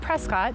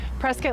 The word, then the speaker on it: Prescott: and by the way it's spelled prescott but if you say prescott we know you're not from here so press get like biscuit welcome so i